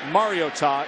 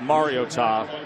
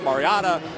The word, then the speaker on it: Mariota: Thus the pronunciation, by the way. It's been said Mariota, Mariana. Mom called the athletic department about a week ago. She said, do me this favor. It's Mario and then Ta.